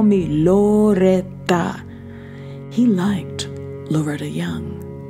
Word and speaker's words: Loretta Young: He liked Loretta Young. Loretta Jung is how he pronounced it in his best Carlos Gardell Estania voice.